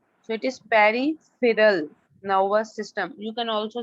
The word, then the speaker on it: peripheral: Okay, it's peri, P-E-R-I, peri. Feral, PH gives the sound of F, like it is phone, P-H-O-N-E.